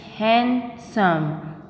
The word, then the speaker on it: handsome: because l is silent and it's handsome not handsome it's not handsome it is handsome what handsome because d is silent here and right we say